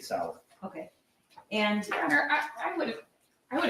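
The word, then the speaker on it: Sauer: mentions the sick sour he mispronounced sour as Sawyer which if you purchased that firem and it was for yourself you'd be familiar with how to say Sig Sal okay and would I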